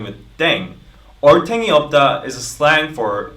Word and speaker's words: Ddaeng: playing with language now the pronunciation of Deng is similar to Thang which is the slang of thing in English last but not least